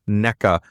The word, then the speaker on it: NECA: I would like to give a nice little surprise shout out to Jason from National Electrical Contractors Association, or NECA, as he told me it is pronounced.